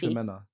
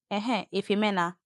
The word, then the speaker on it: Ifemena: Ifemena. I've got a friend called Ife. It's Ife. Ife. Ifemena. Yeah. That's the pronunciation.